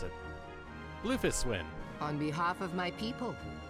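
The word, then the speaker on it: Bloefhiswyn: my tastes may i present to you admiral blowfish win blowfish win i think it's pronounced some some i think it's pronounced differently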